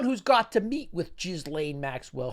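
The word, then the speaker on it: Ghislaine: He's the only one who's got to meet with Gizlane Maxwell. Her name's pronounced Gizlane.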